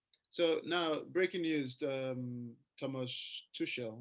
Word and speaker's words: Tuchel: So now, breaking news: Thomas Tuchel, right? I don't know if that's how you pronounce it.